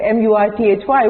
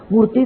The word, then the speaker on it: Murthy: So when I said T-H-Y, I said that is Th.